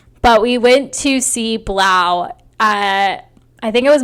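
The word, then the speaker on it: 3LAU: those that don't know blau is three the number three capital l capital a capital u but he's pronounced blau his full name is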